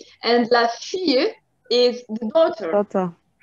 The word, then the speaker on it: fille: La fille. La fille. Okay. For la Shadi, you don't pronounce the L. It's Y.